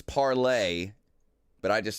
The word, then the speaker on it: Parler: It's actually parlay, by the way. I've been saying it wrong the whole time.